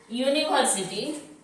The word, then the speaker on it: university: अगर हम इसमें लिखते हैं USA, sorry यूनिवर्सिटी, यूनिवर्सिटी, UNIVERSITY, यूनिवर्सिटी। तो यहाँ इसका उच्चारण क्या हो रहा है? य। और य कैसा वर्ण है? व्यंजन वर्ण है।